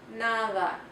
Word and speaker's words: nada: The letter de also makes a soft sound. It's more like a TH sound. The soft D sound is more like a TH, as in the word nada.